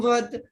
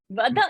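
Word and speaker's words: वद: So it will be mam vad, avam vad, asman vad. Vada, if you will say I'm going to fine, I'll need definitely $100 fine now. Vad you cannot say. Vada.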